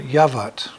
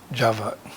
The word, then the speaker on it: Yavat: with our miniseries on yavat sometimes pronounced java as you may know